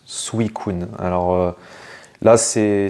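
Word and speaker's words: Suicune: et bien on dit suikun normalement ça se prononce suikun alors là c'est c'est du japonais mais Julien bardakov quand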